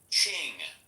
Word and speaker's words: Qing: It's pronounced asQing. Ching.